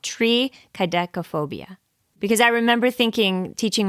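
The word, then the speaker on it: triskaidekaphobia: it's too late now it's not try it's tree tree tree kobia now that I'm thinking back so I think I said it wrong originally it's called tree kop phobia because I remember thinking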